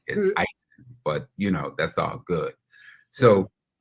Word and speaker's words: Eisen: And just to get it straight, the correct pronunciation of my last name is Eisen. Sorry. E is Eisen, but that's all good.